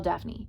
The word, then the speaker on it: Daphne: one way to spell Daphne it's d-a-p-h-n-e okay d-a-p-h-n-e it's two syllables Daphne not Daphne Daphne I thought I was